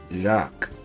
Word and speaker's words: Jacques: I'm is it Jaquez? Jacques? How do you pronounce this? Jacques.